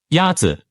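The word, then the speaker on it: 鸭子: Is it Yatse? Yatze is pronounced with a first tone. In Mandarin, there are 4 tones, which are essential to distinguish the meaning of words. The first tone is a high-level tone.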